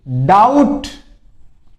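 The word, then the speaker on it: doubt: होता है फिर देखिए डाउट डाउट इसमें बी साइलेंट रहता है ध्यान रख लेना बहुत से बोलने में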